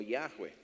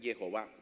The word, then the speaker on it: Jehová: visto y b y que algunos y algunos pronuncian como yahwe cuando es Jehová Okay así le dirás